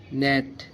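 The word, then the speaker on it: gnat: জি silence মানে silence জি জি এন এটি নেট জি এন এটি নেট এস আই এন জি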